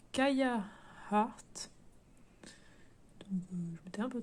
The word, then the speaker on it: Kia Heart: Donc il y a 2 semaines j'avais fait Kia Heart, ou d'ailleurs je crois que ça se prononce Kaya Heart.